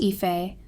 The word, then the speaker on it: Aoife: So I am Aoife, pronounced Ife, female, 26 years old.